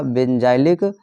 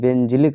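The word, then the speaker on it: benzylic: बच्चों एनसीईआरटी में बेंजिलिक लिखा हुआ है, बेंजिलिक क्लोराइड से बेंजिलिक एल्कोहल। ओके, तो उससे कोई डाउट नहीं है, आप बेंजाइलिक भी प्रोनाउंसिएशन कर सकते हैं, बेंजिलिक भी, बोथ आर करेक्ट।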